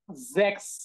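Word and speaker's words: sechs: বা বর্গীয় জ এর মত তাহলে দেখেন এটার উচ্চারণ কি হবে জ্যাক্স জ্যাক্স জ্যাক্স জ্যাক্স জ্যাক্স এটার উচ্চারণটা হচ্ছে দেখেন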